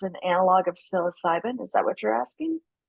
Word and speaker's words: psilocybin: will be funded if it's an analog of psilocybin is that what you're asking I think so